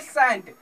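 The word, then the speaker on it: scent: तो हमेशा याद रखिए कि एस के आगे अर्थात एस के बाद हमेशा सी क्या होता है, साइलेंट होता है।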